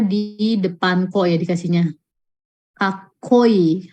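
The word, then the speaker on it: かっこいい: Kakoi, haite berarti dia dikasih tsu kecil di depan t. Gakko, kakoi, haite. Cara bacanya ya.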